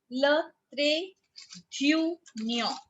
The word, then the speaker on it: le trait d'union: Le trait d'union.